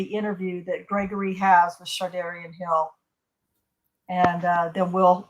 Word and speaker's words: Shardayreon: am I saying you're not when I say sharion um it's pronounced it's close enough uh sharion it's pronounced shardan though what do you go by matter